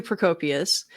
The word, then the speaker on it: Procopius: Procopius, the secret history guy.